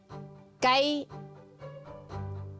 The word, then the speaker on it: gai: So it's the Cantonese word for chicken, gay. Gay. Did I say it right? Gay. Yeah, gay.